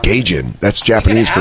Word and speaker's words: Gaijin: Gaijin is how you say it.